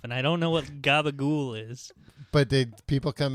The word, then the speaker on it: gabagool: Ooh, it's gabagool is the Sicilian pronunciation for the spicy deli ham capicola.